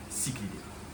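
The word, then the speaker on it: cichlidé: Donc là, ça vient bien du grec, on dit cyclidé.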